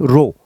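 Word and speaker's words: ρ: Greek letter है, ये रो बोलते हैं, ROH, रो। तो ये सिंबल का नाम है, इसको कैसे प्रोनाउंस करते हैं? रो बोलते हैं।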